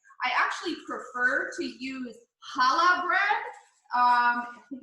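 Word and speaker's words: challah: they make it i actually prefer to use chala bread um i think it's spelled c-h-a-l-l-a-h and i get that from the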